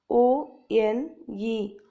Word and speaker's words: one: example one is spelled o n e however it is pronounced as one like it starts with a w example she has a